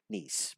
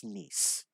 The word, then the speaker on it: Nice: Nice and Nice, but we'll actually kind of forgive her on that pronunciation because that's a common one. So Nice, but it is Nice.